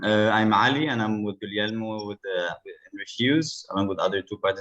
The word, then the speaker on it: Guglielmo: Guglielmo. Guglielmo. It's like Guillaume or William.